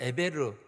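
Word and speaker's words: עבר: 정식 히브리어 발음으로이 이거를 저 히브리어 발음으로는 이불입니다 발음이 이불이라고 발음을 하거든요 이불이라고 발음하는데 에벨이라는 말을 우리나라 말 에벨리 아고 했지만 그 그리저 히브리어로는 에베르 혹은 뭐 이브리 이렇게 이렇게 발음할 수 있거든요 자음이 똑같아요 그렇게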